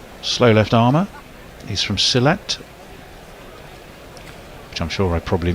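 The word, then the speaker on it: Sylhet: left armor he's from selette which I'm sure I probably missed pronounced this one's stroked away to cover silit yeah it was close like silit bang like John silit like John silit ex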